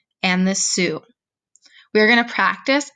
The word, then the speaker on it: Sioux: tribes these tribes are the assiniboine and the sioux we are going to practice how to pronounce their names because you might not think